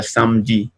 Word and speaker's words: samedi: Por ejemplo, aquí tenemos la palabra samedi, ¿no? Samedi significa sábado. Entonces, aquí esta E se escribe, pero no se pronuncia.